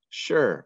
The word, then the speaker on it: sure: than how it sounds sure are you sure you know how to spell this word it sounds like there's an sh at the beginning but there is not it's just s-u-r-e and